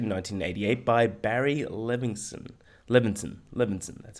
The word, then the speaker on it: Levinson: Levinson, that's how you pronounce it.